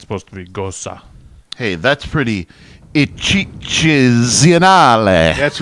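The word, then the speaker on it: Gose: Oh, I've actually pronounced this wrong all the way, and the kid at the Bev always pronounced it Gosa, and that's how you're supposed to.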